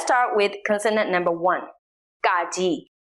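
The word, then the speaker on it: ကကြီး: with consonant number one gaji that is pronounced C it sounds something between the English K and the English G like the k sound in category but the best way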